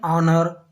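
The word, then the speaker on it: honour: हैं, एन एयर, एन ऑनर, एच यहाँ पे भी साइलेंट है, ऑनर, एन ऑनर हो जाएगा।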